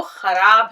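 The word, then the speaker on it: ख़राब: हम इसको ख की आवाज़ को सही निकालेंगे तो खराब लफ्ज़ जो है वो सुनने में अच्छा लगेगा।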